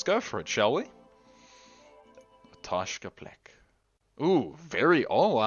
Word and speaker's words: Otoshka: a very calm place am I saying it correctly it is a toshka the toshka not a toshko toshka but toshka Blake has always